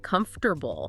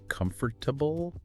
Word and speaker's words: comfortable: They stretch it out, adding that extra syllable. Comfortable. But again, native speakers in normal conversation usually drop it. So, it's iffully syllables again. Three again. That middle part gets compressed.